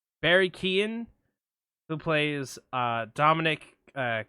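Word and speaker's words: Keoghan: There's It's Barry Kon. Barry Keon, who plays uh Dominic uh Kierin, who's like uh if y'all ever saw The Outsiders?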